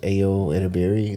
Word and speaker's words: Ayo Edebiri: That's I think it's pronounced Ayo Edebiri.